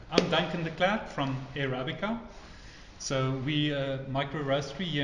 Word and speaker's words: Airabica: Today we are visiting Airabica. Am I pronouncing that correctly?